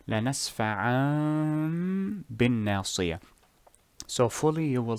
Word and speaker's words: لَنَسْفَعًا بِالنَّاصِيَةِ: First you hide the tanween or hide the noon in tanween, لنسفعان, then turn it into a meme, بالناصية, لنسفعان بالناصية. This includes the غنة, and since we said that غنة takes 2 seconds or 2 harakas, the first haraka will be for the Ekhfaa, the second haraka will be for the transformation or Edghaam.